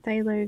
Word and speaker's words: phthalo: got our green light phthalo green that's a hard word to pronounce or to figure out it's th-th so it's sailing sailing thanks